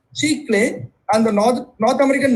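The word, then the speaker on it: chicle: ancient Mayans used a resin like substance called CH clay so that's how it's pronounced CH clay and the north North American natives use spruce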